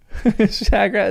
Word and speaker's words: Shagrat: Shagrat is fine pronunciation.